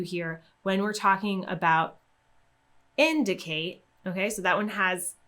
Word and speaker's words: indicate: answer in the word indicate we see that we have an ate ending when you see an ate ending we're going to stress the syllable two syllables before that ate ending so we have the